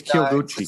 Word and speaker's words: Kyoguchi: say it right yeah you say it real quick the kill i think it's kill gucci same character you know the city kyoto right the city called uh kyoto right so